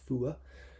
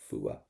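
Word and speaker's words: fuath: little bit of this fua do not pronounce the T fua so so it's I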